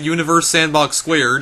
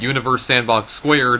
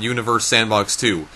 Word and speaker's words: Universe Sandbox²: go any further yes the reason I'm pronouncing it universe sandbox squared is because just like the trackmania square games the two in the title of this game is stylized as a superscript so because of that I'm going to be pronouncing it universe sandbox squared and not universe sandbox too so deal with it